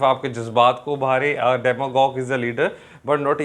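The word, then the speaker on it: demagogue: تلفظ دیکھ لیجئے گا DEMAGOGE، ڈیماگوگ.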